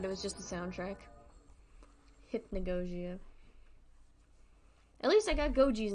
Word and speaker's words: Hypnagogia: from the game's title hippie nagojia and you pronounce it hip hipnagogia I've been saying it wrong this entire time hypnagogia hypnagogia got it hypnagogia I thought I